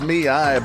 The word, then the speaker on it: ME:I: So it's pronounced Miai, but I think they're saying Mai as well.